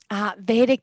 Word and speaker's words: Vedic: Vedic Thai Yoga. Thank you, because I did need help with that pronunciation.